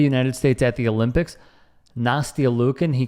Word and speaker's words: Nastia: Nastia Lukin, he called her Nastasha, I think.